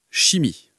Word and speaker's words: chimie: Mais attention, il y a quelques exceptions, surtout dans les mots d'origine grecque où ch se prononce comme un que. Par exemple, dans coral ou chimie.